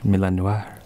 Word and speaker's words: Milan Noir: You gotta say it like it's French. Milan Noir.